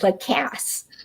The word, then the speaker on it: Lacasse: He pronounced it Lacasse. Yeah, like with a southern twang.